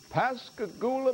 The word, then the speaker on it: Pascagoula: out to and Jillian tell me if I'm pronouncing this right Pascagoula Mississippi you got it Mississippi or Gillian's on